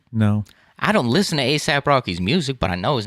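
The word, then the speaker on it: A$AP Rocky: pronounce pop culture thing it's not on s either it's just a it's just asap rocky that's what you've never heard the guy's name before no i don't listen to asap rocky's music but i know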